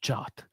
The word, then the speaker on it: JWT: Why they say it's pronounced JOT? I can't do it. Okay, I can't force. Because JWT, if you squeeze it fast, is JOT, right?